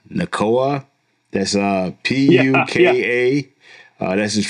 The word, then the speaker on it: Nacua: And then this other kid, I can't even pronounce his name, man. Puka Nacua.